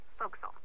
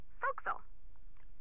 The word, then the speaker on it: forecastle: ship but it's pronounced fo'c'sle why is that try pronouncing it like an english sailor with no formal education Oh Castle fo'c'sle over time it whittle